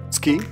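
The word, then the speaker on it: 月: The left half, moon, pronounced tsuki, is a kanji by itself, but the right half, inoko, is rarely used and is not one of the must-know kanji.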